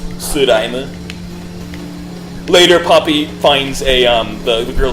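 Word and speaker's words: スライム: Su is just the first syllable of slime in Japanese. Suraime.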